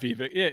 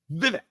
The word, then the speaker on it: Vivek: yeah I mean uh Vivek or not Viva how do you say his name it's uh he said it's uh Vivek yeah Vivek Vivek like yeah that's what he says yeah Vivek I'll take